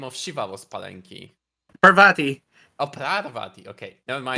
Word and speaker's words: Parvati: Parvati.